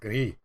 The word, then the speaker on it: Gris: That is Grease? Gris? Gris. Gris? Oh, Gris? fucking yes, yes, It's- yes. In And- Paris, it's pronounced Gris.